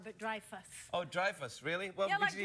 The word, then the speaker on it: Dreyfus: my name Julia Louie Dreyfus it's not Dreyfus where is it the Dreyfus Dreyfus yeah like drive a car but Dreyfus Oh Dreyfus really welcome